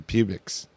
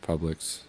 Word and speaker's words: Publix: coast reference sir the pubics i go down the publix sir it's pronounced publix it looks like pubics i know what it